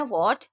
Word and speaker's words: what: तो W को तो हम पढ़ रहे हैं वॉट, लेकिन H को नहीं पढ़ेंगे।